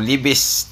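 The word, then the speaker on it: Lévis: Lawrence River sa pagitan ng Saint Foy at ng Levi's Quebec o Libis sa pronunciation nila.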